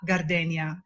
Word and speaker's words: Gardenia: And so they pronounce it the Italian way, which is gardenia, not the ya.